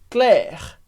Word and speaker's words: Claire: de pronúncia muito importante que o e no final da palavra como Regra geral a gente não lê Então a gente vai dizer Claire a gente pronuncia o r mas Naum pronunciou o e que venha sala toda